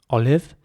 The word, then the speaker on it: olive: Olive is spelled O-L-I-V-E, olive. And here it is very important to pronounce the I in the middle like an E sound. So olive, not olive, but olive. Olive?